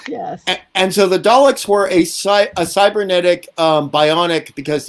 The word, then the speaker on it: Dalek: It is pronounced Dalek.